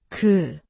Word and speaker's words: ㄱ: Si pronuncias el sonido, es '그' . Es un sonido que se hace cerca de los molares.